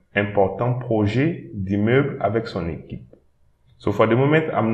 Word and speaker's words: équipe: Équipe. Don't pronounce the I at the end, but instead pronounce the P.